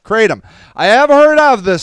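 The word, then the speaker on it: kratom: in shots pills and Powers but it's called pronounced katom I have heard of this stuff um and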